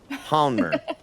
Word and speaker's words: Hanmer: you live she lived in Hanmer hmer that's how you say it in that's how you say in Tennessee new Hanmer New Zealand